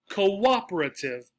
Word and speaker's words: cooperative: in this suffix, T-I-V-E, they get stressed on the second syllable. Another example, cooperative, cooperative, cooperative.